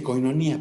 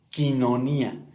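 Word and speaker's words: koinonía: Hay quien dice coinonía, pero el diptongo oí, poniéndolo en español se pronuncia y quinonía.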